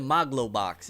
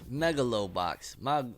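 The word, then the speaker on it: Megalobox: know because even why he called it moglow box it's Megalo box maybe it I don't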